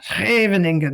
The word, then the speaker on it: Scheveningen: So it's kind of like there's another town in the Netherlands called Scheveningen. I always feel like I'm clearing my throat when I say it.